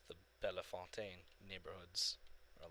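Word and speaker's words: Bellefontaine: have a bell fountain bell fountain ohio it's like no it's bella fontaine or something to that effect french is really rusty put it that way um but they they pronounce the bell fountain and then meanwhile you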